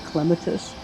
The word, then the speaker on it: Clematis: Our garden club has been having a discussion about if it's Clematis or Clematis. And in the Midwest, it has been Clematis forever. So we've started, the correct pronunciation is Clematis.